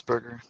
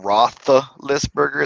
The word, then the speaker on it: Roethlisberger: Roethlisberger. Benjamin Roethlisberger. I can never spell it, and that's why I if you look anything where I It's post actually about him, it's actually not Roethlisberger.